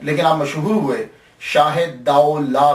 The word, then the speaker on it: Daulah: ये लफ्ज प्रोनाउंसिएशन दाऊ ला है। दूल्हा नहीं है। ये सबसे पहले याद रख लीजिएगा कि ये दाऊ ला है। दाल ज़बर वा साकिन दाऊ और लाम अलिफ ला है।